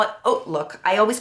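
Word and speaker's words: HauteLook: um they call it oat look I always call it hook but it's actually pronounced oat look like oatmeal um and I just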